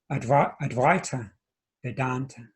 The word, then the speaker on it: Advaita Vedanta: school that's known as advaita vedanta that's how you pronounce it um the va there is is is pronounced and the ai vowel in sanskrit is pronounced i so it's vedanta and